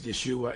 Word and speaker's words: Yeshua: prays he does preach Jesus Yeshua as he says Yeshua is the cor correct pronunciation he does preach Yeshua